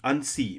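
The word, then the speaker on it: Annecy: अब फ्रांस के जिस शहर अनसी, मैंने प्रोनाउंसिएशन स्पेशली चेक किया, तो अनसी शहर जो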